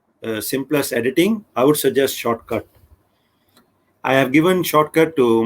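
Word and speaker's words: Shotcut: easy it is i i was pronouncing it shortcut you know but actually is a shortcut not no r actually it's a shortcut to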